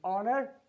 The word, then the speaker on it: honor: H letter, we have hour, we have honor, we have honest, we have honorable. Under all the circumstances, what do we find? We find that this letter here is silent. It is hour, it is honor, it is honest, it is honorable. Under all the circumstances, we find H letter is silent.